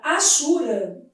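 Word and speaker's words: hachura: Na palavra achura. A letra H deve ser lida como gente, a letra H não é pronunciada na língua portuguesa, né?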